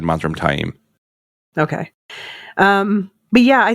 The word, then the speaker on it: Taim: I noticed last season I always called them Ma T in my head or tame in my head but they called him taim last season oh yeah it's I always said mam taim okay um but yeah